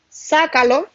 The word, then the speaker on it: sácalo: Yo puedo decir, sácalo. Sácalo. Fuerza de pronunciación en la antepenúltima se debe acentuar siempre.